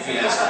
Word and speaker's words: Fiasco: And that is his last name, Fiasco. Correctly pronounced.